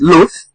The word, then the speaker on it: loath: There is an L-O-A in the first word, loath, which is loath, because the TH at the end of the word produces an F.